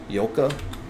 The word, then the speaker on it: Jolka: No, that's not Jolka, dude. They told me last time how to say it. Yolka?